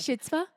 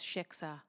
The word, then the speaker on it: shiksa: Shitzvah? Not even close. Shiksa. But what's so cute. Shitska.